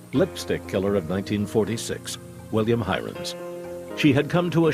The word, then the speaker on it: Heirens: actually said you know our name really isn't herons it's hirans kennedy had concluded that